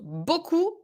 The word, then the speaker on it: beaucoup: excellent spelling yeah and boku is far from being obvious boku pronounced boku written as you can see uh cheryl